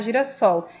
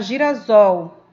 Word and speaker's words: girassol: girassol, não vai ficar, eu não vou pronunciar girassol, eu vou pronunciar girasol, porque o meu S vai ficar entre um A e um O, entre vogais. E quando eu tenho um S entre vogais, eu tenho o som de Z.